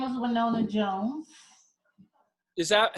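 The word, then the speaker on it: Wynona: My name is Winona Jones. Is that, how do you spell that? Is that with an R? No, W-Y-N-O-N-A, like Winona. Oh, Winona.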